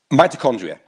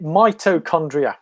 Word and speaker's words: mitochondria: Mitochondria. Well, depends if you're from Yorkshire or down south, but it's mitochondria, M-I-T-O, mitochondria. It is MIT. It is MIT. Yeah. But okay. As long as I get the first bit right, mito.